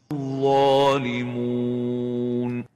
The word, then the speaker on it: الظالمون: of the waw is mixing its sounds with a gunna, nasalization. الظالمون. And the proper way is to pronounce it like this. الظالمون So, الظالمون, not to mix it with a nasal gunna. Don't say الظالمون. Thus, avoid nasalization when pronouncing the waw and make sure you pronounce it without gunna.